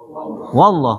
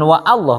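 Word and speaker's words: والله: Wallah kan? Bukan wa Allah kan? Wallah.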